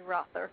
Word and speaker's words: Rother: the program uh rther and I hope I'm pronouncing your last name properly it's actually Rother but that's okay okay